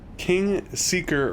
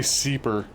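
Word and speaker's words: Kingseeker: king see god it's so hard for me to pronounce the name king seeker frampt i always say seeper he's not very thrilled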